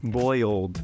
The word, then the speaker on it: boiled: I think I said bold. Yeah. Which is boiled. A little bit Southern. Boiled.